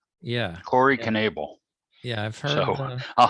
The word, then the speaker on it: Knebel: think i have the i always said corey neville i'm looking up on baseball reference and it looks like they pronounce them as conneble yeah corey knebel yeah i've heard so